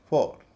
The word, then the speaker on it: four: इसी तरह FOUR, फॉर। लेकिन TOUR, इसका उच्चारण हो गया टूअर।